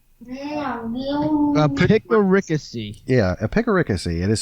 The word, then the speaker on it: epicaricacy: Epicaricacy. Epicaricacy. Yeah, epicaricacy. It is spelled EPIC, epic, ARI, and then CACY. And the stress is on the 3rd syllable. So it's like epicaricacy. Epicaricacy.